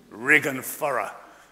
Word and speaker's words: ridge and furrow: And yet, there, can you see the ridge and furrow? Rig and furrow. That's how a farmer here pronounced it to me.